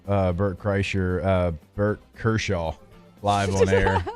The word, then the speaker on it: Kreischer: It's Kreischer, but it's spelled really weird. It's like SCHN. So no N. There's no N in there. It's not Kershaw.